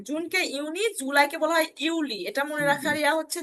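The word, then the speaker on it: Juli: হয় ইউনি দেখেন জুনকে ইউনি জুলাইকে বলা হয় ইউলি এটা মনে রাখার হচ্ছে যে জুনের এই তিনট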